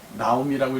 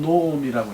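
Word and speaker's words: נעמי: 룻기 4장을 읽어보면, 보아스가, 나오미라고 읽지만 사실 히브리 말로는 노오미라고 읽어야 돼요.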